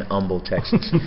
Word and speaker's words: Humble: was in you got you guys don't pronounce the H right right that was in Humble Texas but I'm gonna say